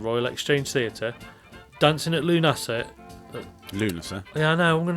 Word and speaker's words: Lughnasa: See, it's phonetically Lunasa. Yes, because I'm slowing the last bit down. Co-produced by Sheffield Theatres and Royal Exchange Theatre, Dancing at Lughnasa.